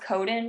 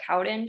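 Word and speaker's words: Cowden: he put me on the I believe it's pronounced codin protocol or Cowen protocol Cowen yes Cowen um and it it's the all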